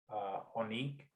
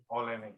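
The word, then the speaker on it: Oleinik: and he beat one of the top heavyweights, Onik, I believe that's how you say his name, Onik. Which had good submission skills. Who is it, Olenek? Olenek, yes.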